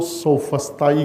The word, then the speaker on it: سوفسطائی: پہلے جو لوگ موجود تھے وہ اپنے آپ کو سوفسطائی کہتے تھے، عربی تلفظ میں کہہ رہا ہوں، سوفسٹ.